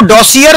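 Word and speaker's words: dossier: अंडा दिया डॉक्यूमेंट का अब वो दोषिर लिखा जाता है लेकिन यह फ्रेंच शब्द है इसमें आर जो है ना वो साइलेंट है हमारे बड़े-बड़े जो हैं पढ़े लिखे लोग जो हैं वो भी इसको मिस प्रणाम कर रहे होते हैं उसको देखिए बड़ी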